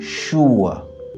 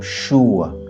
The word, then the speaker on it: sure: en anglais et ben pour dire je suis sûr en anglais c'est i am sure en anglais britannique et i am ch en anglais américain donc chou pour les Britanniques et cha pour les Américains i am sure I